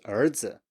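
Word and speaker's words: 儿子: neutral tone, so that's 儿子, 儿子, so son, 儿子. and you can hear that it's lower than the top of the preceding one.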